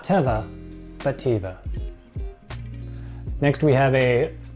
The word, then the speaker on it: Teva: be really confusing but it's pronounced Teva not Teva pativa next we have